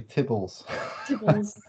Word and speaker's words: tibbles: oh if i start have i am i pronouncing it wrong is it tibbles it is actually tibbles but i i did find that humorous because